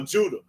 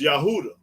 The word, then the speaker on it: Judah: Johnson James no you have to yeah uh Judah it's yahudah instead of Judah so yeah but but by